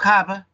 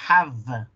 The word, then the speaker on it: have: pronunciar la V, porque la V no es have, donde los dos labios tocan, sino que es have. El diente de arriba toca el labio de abajo y tú dices, I have a question.